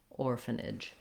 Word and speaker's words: orphanage: So trying that j, ij, nidge, orphanage.